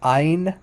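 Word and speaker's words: ע: i in modern Hebrew which is pronounced like Ein Ein it's not it's there's not it's no guttural it's not guttural at all um so in in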